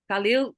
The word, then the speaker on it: Khalil Gibran: Khalil Gibran? Khalil, yeah.